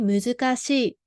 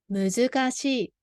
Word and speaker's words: 難しい: So this is a muzukashi, pronounced as muzukashi. So she is put together. 難しい. Repeat after me. 難しい. 難しい.